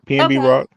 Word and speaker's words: PnB Rock: his name pnb Rock You said it right pnb Rock like people like him he didn't have the